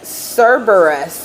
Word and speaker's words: Cerberus: also okay it says cereus s s wait Cerberus okay that's how you say it Cerberus was